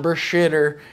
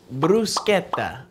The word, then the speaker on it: bruschetta: pronunciation of this dish it's not Brer it's not bruser it's brusa okay brusa let's practice right brusa okay perfect now we